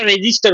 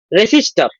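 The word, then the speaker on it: resistor: মানে বানান করতে কিন্তু আমার রেসিস্টর হবে, কিন্তু উচ্চারণ করতে আমরা রেজিস্টার উচ্চারণ করি, কিন্তু এটা রেসিস্টর।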